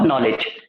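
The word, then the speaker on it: knowledge: नो और नॉलेज दोनों में के साइलेंट है।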